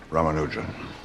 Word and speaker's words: Ramanujan: Ramanujan. Am I pronouncing that properly?